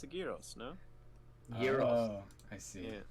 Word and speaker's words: Gyros: Gyros. Oh, I see. Yeah. The G is pronounced like a Y.